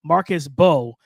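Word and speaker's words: Marcus Mbow: I think it's Marcus Bowe, because the M is silent, out of Purdue.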